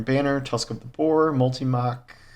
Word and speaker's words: Multimach: Tusk of the boar multimach multimach is how you pronounce it nightfalls wild style and